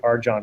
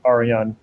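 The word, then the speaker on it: Arjan: question by the way everyone mispronounces his name they always say arjon it's aryan as i understand it so uh you know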